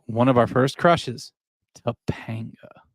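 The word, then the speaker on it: Topanga: brings you back to tapa you have to say it like that tapaa most guys are age one of our first crushes tapanga right there's one one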